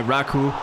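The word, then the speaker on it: Raków: The Häcken goalkeeper Abrahamsson was the story in this one as he made save after save to deny Raku. That's apparently how it's supposed to be pronounced, and the match was goalless at the end of the 90 minutes.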